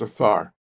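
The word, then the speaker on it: עפר: It's a P, but it's pronounced afar.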